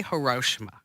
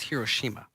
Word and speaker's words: Hiroshima: order to get to Hiroshima okay we say hoshima yes it's not the proper it's Hiroshima okay because I learned that did you learn